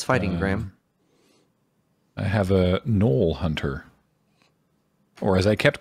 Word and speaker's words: gnoll: subconsciously yeah it's like yes you do know that it the g is not supposed to be pronounced but you're not actively